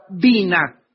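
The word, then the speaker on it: בינה: La palabra inteligencia en el hebreo es la palabra vina. Bande y n a h. Vina. Otras veces simplemente se pronuncia en el hebreo vin.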